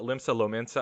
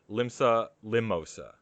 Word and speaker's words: Limsa Lominsa: me know that i'm i mispronounced the town uh of limsa lomensah uh okay i think i called it instead of uh limsa lominsa i think i called it uh limsa limosa yeah mimosas are great